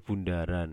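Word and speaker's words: ∘: Bisa f bundaran, ini bacanya bundaran ya, bukan o ya, tapi bundaran f bundaran g, atau bisa juga f komposisi g, atau kebalikannya G bundaran F juga bisa.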